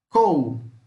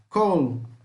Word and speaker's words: col: Col, couve, col, couve, col, couve, tá? Simples assim. Só quando for pronunciar o L, tenta dar uma puxada nele.